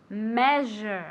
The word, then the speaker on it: measure: pronounce very good measure measure okay like a CH or like an sh but softer okay measure repeat very